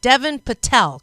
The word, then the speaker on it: Deven Patel: I think I said your name wrong. Deven Patel, correct?